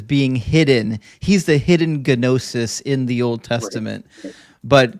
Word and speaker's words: gnosis: to have this this ginosis and yes in biblical Greek you pronounced the G in gnosis not in English and if you could